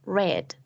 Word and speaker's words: read: We also have other verbs that don't change in form but they do change in pronunciation like in the case of read that becomes red.